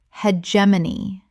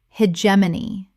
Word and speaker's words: hegemony: Hegemony. Correct pronunciation. Hegemony. 4 syllables with the stress on the second. The G makes a J sound.